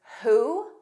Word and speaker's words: who: Also WH spelling in the words who, whom, whose, whole. Notice there's no W. It begins on H.